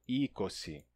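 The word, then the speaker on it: εἴκοσι: Tem pessoas que pronunciam erroneamente como e, certo? Isso daqui em grego não é ei, tá? Ou você pronuncia como i, ou numa pronúncia mais antiga pode se pronunciar como um e, um e longo e fechado. Ese ou então mas jamais como e tá?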